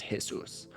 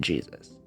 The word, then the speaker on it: Jesus: born Carmen Mercedes Moreno so his middle name was probably pronounced hisus although once he entered the US Civil Service he pronounced it Jesus as a child due